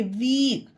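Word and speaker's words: weak: number four पढ़ते हैं जब किसी वर्ड में ई ए एक साथ आता हो तब ई ए का उच्चारण ई किया जाता है एग्जांपल में क्लियर करते हैं डब्लू ई ए के वीक ई ए ई ए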